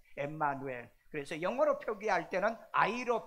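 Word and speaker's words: Ἐμμανουήλ: 임마누엘 히브리어에 임마누엘 임마누엘 이건 히브리어로 임마누엘이고 그 다음에 오늘 본문에 보면은 또 임마누엘이 일어났는데 여기는 원래 헬라어로 되어 있는데 이것은 엠마누엘이라고 되어 있습니다 엠마누엘 그래서 영어로 표기할 때는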